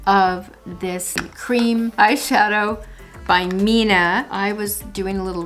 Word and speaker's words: 3INA: non-powder eye shadow and i found this it's pronounced mina and they're little pots uh this one is